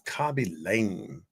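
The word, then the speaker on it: Khaby Lame: I may not be pronouncing this guy's name correctly, but his name is Kabi Lame.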